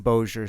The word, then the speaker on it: Bossier: I had to find a YouTube video where a robot guy was like, I was like, is Bossier. it Bossier? Bossier.